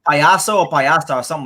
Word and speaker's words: payaso: Like payaso or payasta or something like that. Payaso. That's how you say it.